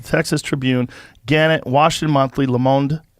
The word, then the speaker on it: Le Monde: Tribune, Gannett, Washington Monthly, Le Monde, is that how you say it? Yeah, Le Monde.